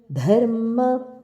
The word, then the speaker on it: ಧರ್ಮ: ವ್ರಜಪ್ರಿಯಂ ಧರ್ಮ ಸಂಸ್ಥಾಪಕಂ ವೀರಂ ಧರ್ಮ ಧ ಮಹಾಪ್ರಾಣ ಹಾಗೆ ಸಂಸ್ಥಾಪಕಂ ಸಂಸ್ಥ ಇಲ್ಲಿ